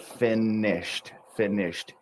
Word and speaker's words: finished: The E is silent. So it's one vowel sound, but the N is doubled. Finished.